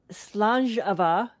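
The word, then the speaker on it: Slàinte mhath: But I'm renaming it Slanjava, which is how you say it in Scottish. It's that word that looks like Slainte Mahath.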